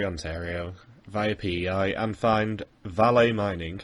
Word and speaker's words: Vale: And teams must now fly to beautiful Sudbury, Ontario, via PEI, and find Valet Mining, I would pronounce it Vale, but whatever, to find